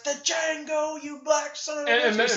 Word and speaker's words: Django: He says, "The Django, you black son of a bitch!" And he says, "The D is silent."